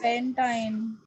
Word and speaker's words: pentyne: What do we pronounce this as? Pentine.